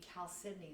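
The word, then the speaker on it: chalcedony: the subcategory would be Cal Sydney that's the weird spelling that starts out with the CH but we pronounce it like a k so another piece that's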